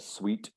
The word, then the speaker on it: suite: kitchen's over there seeds that's exactly the same pronunciation but different spellings sweet oh really so those are different words but they're pronounced the same sweet or uh a sweet for a place like